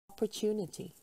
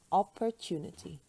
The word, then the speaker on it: opportunity: you see it women women women but women opportunity opportunity opportunity remember there are five syllables in this world divorce divorce divorce LG